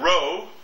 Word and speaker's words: rho: okay that's the little n there and then Row one of the many rows that populat St statistical literature this is not to be confused with the auto regression Row in fact it started life as R the